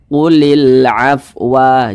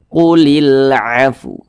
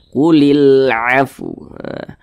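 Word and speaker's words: قُلِ الْعَفْوَ: Jangan dibaca qulil afwa, jangan. Jadi cara membacanya itu disempurnakan dulu huruf fa, baru di ujungnya itu ada huruf wawnya juga, begitu. Qulil afu, begitu. Ada huruf wawnya di ujungnya.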